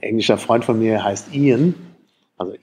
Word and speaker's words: Ian: Also Ian, I-A-N, das sieht dann in Deutschland, denkt, es wird Iron ausgesprochen, aber Iron ist Eisen.